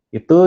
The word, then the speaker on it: id: Jadi manusia itu secara psikologis terdiri dari 3 area. Ada ide gitu ya, tapi bacanya it.